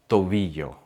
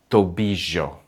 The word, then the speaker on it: tobillo: Double L sounds like the letter Y in the word yes, but it's shorter and clearer. Llamar, llegar, rodilla, tobillo.